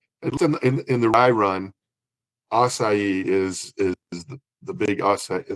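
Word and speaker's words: açaí: Yeah, some people pronounce the the C as a C, but I think the correct pronunciation is kind of an S pronunciation.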